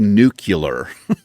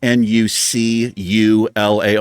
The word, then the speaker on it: nuclear: I think I used to say nuclear is what she was giving me shit about. It's nuclear. But I was pronouncing it like Nucular, nuclear.